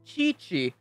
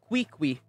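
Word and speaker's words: Qiqi: lisa and kayla uh every q letter is pronounced really so it's chichi not quickly is that right ganya is the one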